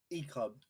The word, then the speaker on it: Ecub: Ecub. Ecub. It's like Jacob with an I.